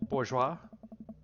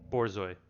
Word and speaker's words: Borzoi: Bourgeois? Is it pronounced bourgeois or bourgeois? I believe it's pronounced, I want to say it's pronounced bourgeois. Bourgeois. Borzoi.